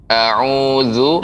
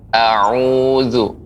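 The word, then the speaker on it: أَعُوذُ: Billah ya, koreksiannya a'udzu billah, a'udzu ya, za ya, pengucapan za dia lidah dengan gigi seri atas, za, a'udzu. A dan ain itu juga tidak boleh tersambung, nggak boleh bergabung, tidak, tapi a'u, a'udzu billah ya.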